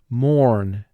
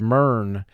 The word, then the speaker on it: mourn: would pronounce the word mern but the closest way to pronounce this word to conform to the spelling that we see in this word is mourn where o u represents the long o sound the next word is